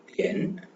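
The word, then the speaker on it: 点: ஸோ இங்க வந்து டி வர்றதுனால நம்ம பார்த்துருக்கோம் THE த அதுல வர்ற சவுண்ட் த. ஓகே, ஸோ இது வந்து தியன் அப்படின்னு ப்ரொனவுன்ஸ் பண்ணுவோம். இங்கிலீஷ் சவுண்ட் மாதிரி DIAN டிஎன் அப்படி இல்லாம D sound the THE த தியன் தியன் தியன் தியன்னா O clock.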